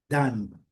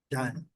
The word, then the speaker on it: done: Eu gosto sempre de alertar. A letra N em português escreve assim e pronuncia o N. Aí em inglês é N. N. Não temos o N. Então, é uma pronúncia um pouquinho mais longa.